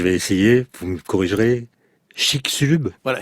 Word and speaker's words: Chicxulub: Chicxulub. Voilà, Chicxulub. Alors, je prononce pas bien le maya, mais c'est vrai que j'écrivais le nom au tableau pour mes élèves parce que.